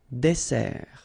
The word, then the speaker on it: dessert: So remember that we've got here two S. Okay? That's the reason why you pronounce it S. And then it opens the dessert.